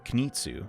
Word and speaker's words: Kunitsu: And in case you're curious, the Kunitsu, or Kunitsu, that's how you say it, race roughly translates to nation rulers.